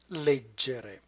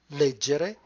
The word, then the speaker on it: leggere: begin with the word late Jerry you notice in the center the cluster GE which is always going to be pronounced J never gay you also do not